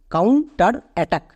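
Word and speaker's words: counterattack: এবার একসঙ্গে উচ্চারণ করো, কাউন্টার অ্যাটাক, কাউন্টার অ্যাটাক।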